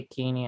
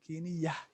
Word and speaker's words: كينية: Make sure you pronounce that ta then Kiniya, so that somebody may not think you are saying I'm Kenya, not Kenyan. So أنا كينية.